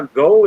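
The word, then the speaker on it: Geaux: hey look look how gold is spelled on lsa g-e-a-u-x yeah go like snow when i type snow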